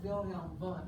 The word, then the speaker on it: Wilhelm Wundt: And it's pronounced Wilhelm Wundt because he's German.